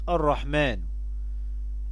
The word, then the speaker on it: الرحمن: الرحمن، يبقى فيها حرف الألف ينطق ولا يكتب في هذه الكلمات.